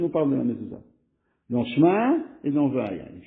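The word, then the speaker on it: מזוזה: Dans la mezouza, ça se lit Zou, si ça se lit Zou, c'est uniquement parce qu'on a mis un chourouk dessus.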